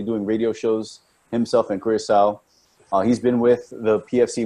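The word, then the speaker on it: Curaçao: He's over in Curacao.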